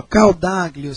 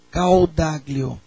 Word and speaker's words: Caodaglio: Ó, Caldaglio se escreve C-A-O-D de dado A G-L-I-O. Caldaglio.